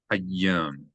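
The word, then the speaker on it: הַיָּם: Hayyam, hayyam. Again, you have a dagesh in the yud. So not just hayyam, but hayyam.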